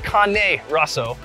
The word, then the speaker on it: Carne Rosso: we're right next to I think it's pronounced Kanye kunai Kanye it's carne Rosso a really cool piece